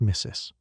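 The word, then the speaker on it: Mrs: real degree you are here to earn is pronounced missis.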